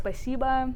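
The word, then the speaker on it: спасибо: So the first rule is when o comes one syllable before the stress, it sounds like a. Oh, So you heard okay. this a lot, like spasiba and all that kind of stuff.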